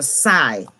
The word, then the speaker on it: psi: and it is for psy this is just pronounced size spell psi the greek word psi but the p is silent it's been outside and